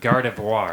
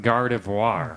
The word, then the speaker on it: Gardevoir: Guardavar. No, Gardevoir. Gardavoir. Like God. No. No. Yeah. But Gardevoir. Gardivoir. He's French. He's French. Yeah.